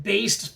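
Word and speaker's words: Baest: from the band called, I'm going to pronounce it Based. I'm probably butchering that, but it's B-A-E-S-T, so it's not Beast, but well, let's just call them Beast.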